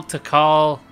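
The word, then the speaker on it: Tikal: living beings all this time really and now to call our tea call it's pronounced to call t call that sounds like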